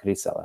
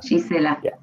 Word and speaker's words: Gisela: And it's Gisela, right? Not Grisela. Gisela.